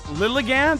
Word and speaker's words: Lilligant: Lilligant, that's how you pronounce it, is one of the prettiest Pokemon ever.